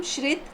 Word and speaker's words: श्रित: आपका उसको अच्छे से पूरी ऑडियंस के सामने प्रोनाउंस कीजिए। तो मेरा नाम श्रित है।